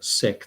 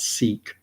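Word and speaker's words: Sikh: uh individuals who are sick that's the way it's pronounced properly not seek sick that's the way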